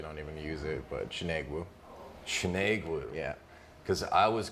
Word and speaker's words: Chinegwu: Oh, I usually don't even use it, but Chinegwu. Chinegwu. Yeah. Because I was going with a more Asian pronunciation.